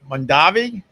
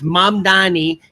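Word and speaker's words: Mamdani: So, uh Mandavi. M. Am I going to have to say his name every morning? Italian. It's It's Mam Dani.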